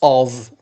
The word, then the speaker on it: of: We have also another word which is lots of. F, it is pronounced v.